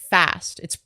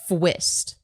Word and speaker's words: Phqst: For the record, the person's name is pronounced fast. It's spelled Phqst. He thinks it's pronounced Fwist.